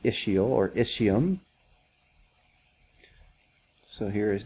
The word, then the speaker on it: ischial: pretty cool okay um issue ischial spine it's pronounced ischial or ischium so here is the ischial spine